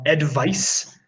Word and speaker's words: advice: Advice is not voiced. There is no Advice. vibration in advice.